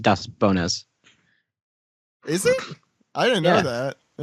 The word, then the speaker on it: Daz Bones: Daz Bones. Brooke. That's right. He's Bones. I mean, not to rain on your parade, David, but it's technically pronounced Das Bonas.